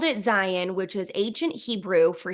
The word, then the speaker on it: Zion: And yes, it's pronounced Zion, not Zion.